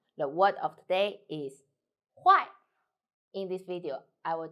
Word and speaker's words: 坏: hello I'm the word of today is why in this video I will teach you how to pronounce it how to write it and how to use it first let's read Gala women it do why huh oh I so u i together why